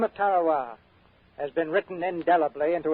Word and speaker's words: Tarawa: a tiny island in the Mid Pacific called Tarow. That pronunciation, incidentally, is from the National Geographic Society. That island will never be important economically. It is no rich source of raw materials, but the name of Tarawa has been written indelibly into American memory in